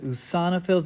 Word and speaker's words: eosinophil: And neutrophils, eosinophils, this is pronounced oo. Let's see, how can I, no, with double O's there. Eosinophil. This sounds more like an A to think.